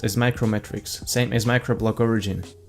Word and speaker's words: uMatrix: your privacy and browse the web more securely you metrics is technically pronounced as micro metrics same as macro block origin but you metric